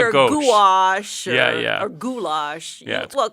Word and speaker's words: gouache: What is gouache? Gouache is spelled in a very strange way, Gouache.